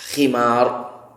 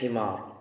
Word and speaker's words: khimar: Allah tidak menerima salatnya wanita yang haid kecuali memakai khimar, bukan himar. tulisannya sama, beda titiknya aja.